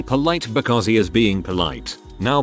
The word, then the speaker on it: poli: He then goes to say that they should be polite because he is being polite. Now polite in French is poli, pronounced poli.